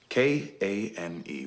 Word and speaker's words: Kane: K-A-N-E, one strong syllable.